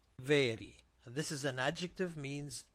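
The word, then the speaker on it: ⲃⲉⲣⲓ: vita A ro iota this is pronounced very very this is an adjective means new.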